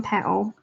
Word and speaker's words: petal: me just doing one petal. I should have pronounced my T in that. Petal, not petal.